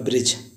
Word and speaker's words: bridge: Guys आपने example तो सुना ही होगा ब्रिज, जैसे BRIDGE, ब्रिज। ब्रिज का अर्थ होता है पुल। यहाँ पे जी से पहले देखिए डी आया हुआ है, देन हम उसको पढ़ेंगे डी साइलेंट होता है।